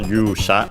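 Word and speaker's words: 勇者: Literally, it's a Chinese compound accented on the first syllable Yusha, you means courage, bravery, and so literally brave person.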